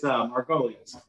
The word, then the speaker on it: Margolius: And the gentleman we're bringing on today, Margolius. Is that how you say it? It's Margolius.